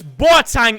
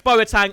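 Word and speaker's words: Boateng: terrible carding game moments boitang is next apparently i say it wrong so i've tried to say it very very well there we've got moments boa tang and i think i'm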